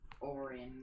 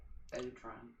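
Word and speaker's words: Odhrán: It's pronounced Orin, not Odran.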